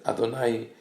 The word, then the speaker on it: Adonai: The word Adonai, even though we pronounce it as Adonai, which means my master or master of the universe, it is written famously as Yud and then Hey Vav Hey.